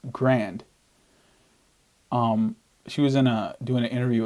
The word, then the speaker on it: Grande: I just kind of analyzed a Ariana Grande song. Apparently it's pronounced grand.